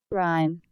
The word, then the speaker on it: Rime: Rime. I was saying Rim instead of Rhyme.